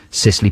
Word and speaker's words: Cicely: a Beatrix Potter book, Cicely Parsley's Nursery Rhymes. Is that how you pronounce Cicely? C-I-C-E-L-Y. Cicely. Cicely. Yeah.